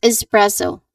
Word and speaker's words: espresso: Espresso. Again. Espresso. He ordered an espresso. He ordered an espresso. Your turn. Excellent. All right. That is he ordered as an espresso. So, no X sound here, everyone.